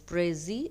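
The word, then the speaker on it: précis: a word French word so it is pronounced without pronouncing the last consonant letter s so the pronunciation I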